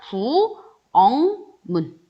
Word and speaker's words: 부엌문: 자, 우선은 선생님 키읔은 여기 없었는데요. 그러면 우리 뭐 생각하면 돼요? 맞아요. 음절의 끝소리 규칙. 키읔은 발음될 수 없었으니까 부엌문. 요렇게 먼저 되고요. 그 다음에 기역과 미음이 만났어요. 부엌문 하기 힘드니까 미음과 같은 위치에 있는 기역과 같은 위치에 있는 비음인 이응으로 변해요. 그래서 뭐가 되냐면 부엉문 요렇게 발음을 해준다라는 거죠.